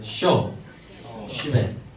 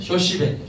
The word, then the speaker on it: 쇼시벤: 이 친구는 뭐냐면 이스라엘 전통 혼례에 등장하는 신랑의 친구, 즉 좀 발음이 어렵습니다. 한번 따라서 해보세요. 쇼시벤. 네, 쇼시벤이에요. 쇼시벤. 좀 어렵습니다.